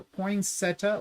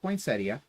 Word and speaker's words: poinsettia: poinsetta or poin Setia I'm never sure how you say it because I've heard it said both ways I always call it a poinsetta but uh I know some people call it poinsettia and anyways this is